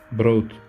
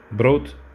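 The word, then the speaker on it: brood: tane almışım 3 euro broth ekmek demek arkadaşlar bir tane o olsa bot denir ama iki tane o konduğu için bro oluyor o uzatıyorsunuz D'de sona geldi mi T gibi gibi okunur ben değil DT gibi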